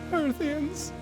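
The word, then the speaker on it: Hearthian: history well Hearth hear however it's home earthin and it kind of rhymes with Earth if you say it like that so some boots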